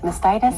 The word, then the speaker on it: mastitis: Is it mastitis? Yes. Am I pronouncing it right? Yeah.